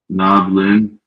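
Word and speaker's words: نبلن: Nablin. Nablin. We have our sukoon here, which makes us say nab. And then we have lin, right? And then we have the next word. nablun. Nablun, 2 syllables.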